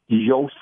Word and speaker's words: Yoast: There's a great plugin out there named Jack that's called Yoast SEO. And it's a free.